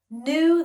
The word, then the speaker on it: knew: e new new so this sounds like the word new like a brand new car right if you buy